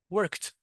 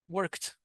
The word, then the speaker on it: worked: So called and here work this ed d is pronounced as a t. So work worked worked.